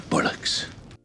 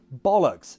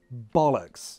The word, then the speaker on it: bollocks: Think you've got your bullocks? No! Who told him that it was pronounced bullocks? No, bollocks. Say it with me, bollocks. You're a bunch of pathetic soup-worshipping kids.